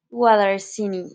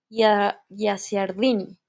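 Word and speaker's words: Guicciardini: el año 1483 con Francisco guarini yarini gardini no lo pronuncio bien es italiano Francesco gardini ya lo dije bien y Bueno él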